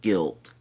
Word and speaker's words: Gylt: I just about an hour ago beat a game called Guilt, and it's spelled Gylt.